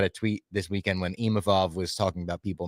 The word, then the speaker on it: Imavov: maybe because he said, I'm not Imamov. I Yeah. think people are like forgetting that there's two V's.